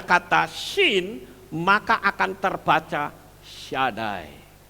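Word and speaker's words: שדי: kemudian depannya ada kata Shin maka akan terbaca syadai Hai Shaddai itu artinya Oh Michi dahsyat luar biasa super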